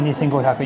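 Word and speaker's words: 二千五百: problem, the thing is, as soon as you say it like that, they'll say, need you go send, but then it sounds like 25,000. Gotta say Nisengo Hyaku, yeah.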